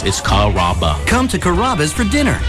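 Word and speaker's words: Carrabba: You know, Kaba, Kamaba, Kamba. It's a really easy name to pronounce. It's Kaba.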